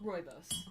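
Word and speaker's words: rooibos: t experts what how do you say that roibos got it i will butcher that every single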